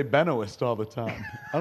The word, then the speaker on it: Benoist: Uh, Melissa Benoy rhymes with moist. Uh, I learned that from Chris Wood. Um, That sounds awfully romantic. Late one evening. I used to say benoist all the time.